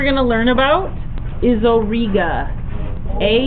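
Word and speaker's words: Auriga: it how's that better a u r i g a Orga and for o it sounds like Eureka for or it is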